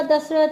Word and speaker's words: दशरथ: कि दे बेटे है दशरथ दे ठीक है इंग्लिश हमेशा अखीर ए लगा द सान प्रोनाउंस ही करना प ठीक है रामा सन ऑफ दशरथा ठीक है आप स्टोरी